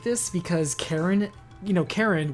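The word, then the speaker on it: Charon: I like this because Karen, you know, Karen, which is normally spelled C-H-A-R-O-N, this is spelled literally kind of phonetically.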